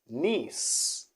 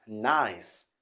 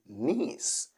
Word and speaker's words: Nice: french city okay people are gonna say nice because we have this word in english but when it comes to this city in france is gonna be nice not nice as in in english